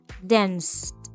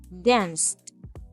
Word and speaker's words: danced: Cuando estás pronunciando un verbo en pasado terminado en ed, haces como si fueses a pronunciar la letra D o la letra T al final, pero en vez de pronunciarla, ahí mismo cortas el aire.